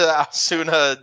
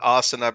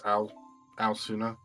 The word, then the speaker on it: Aosuna: I've been saying Asuna because it reminded me of Naruto, but I think it's Aosuna. Aosuna, okay.